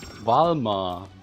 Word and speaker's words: Valmar: Is my pronunciation that bad? No, it's Wings of Balma. Valmar.